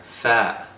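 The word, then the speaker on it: ث: arrive at the letter fat fat fat is pronounced with the tongue between your teeth sometimes behind your top row of teeth it's not voiced which means it sounds like thing not this again the that is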